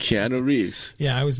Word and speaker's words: Keanu: It's Keanu Reeves. Yeah, I always mispronounce that.